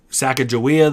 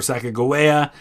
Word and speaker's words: Sacagawea: They have supposedly the grave of Sacagawea there, or Sacagawea, depending on how you pronounce it.